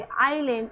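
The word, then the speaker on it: island: आई और एल के बीच में एस आ रहा है। तो एस का प्रोनाउंस नहीं होगा।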